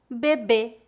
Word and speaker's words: bebê: de mim para praticar pronúncia fechada mês mês bebê bebê éxito éxito pronuncia aberta pé pé médico médico América América